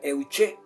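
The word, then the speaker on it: εὐχή: Y en la palabra griega para oración se pronuncia euché.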